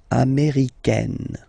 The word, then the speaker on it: américaine: Américaine. Okay, it's really open, this A-I.